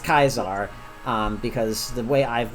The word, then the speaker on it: Caesar: Soft C uh sound so like it's not Caesar it's C it's k yes and it's kaizar um because the way I've been told and